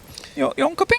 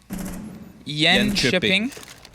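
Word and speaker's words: Jönköping: Jonkoping? That's it. Is that how it's pronounced?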